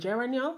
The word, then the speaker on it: geraniol: are in the plant, which includes citral and geraniol.